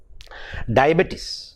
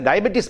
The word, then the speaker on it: diabetes: one is that of diabetes oh he is a diabetes patient no it is a the actual pronunciation of the word is diabetes diabetes diabetes now please take a